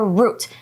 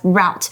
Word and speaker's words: route: Okay, those ways of getting to somewhere special is called a route. Sometimes you can also pronounce it as route. So both are correct.